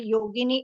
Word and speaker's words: yogini: in the same way yogini is a version of saints beautiful and it rhymes with Linguini if you know what's